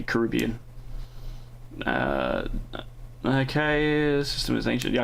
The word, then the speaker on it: Caribbean: And yes, I say Caribbean because I'm Australian. It's Americans say Caribbean.